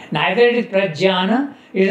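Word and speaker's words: प्रज्ञान: In Marathi it is known as Prajnano. Nyan. In Sanskrit you pronounce it like that. Jnana, Jnana, Prajnana.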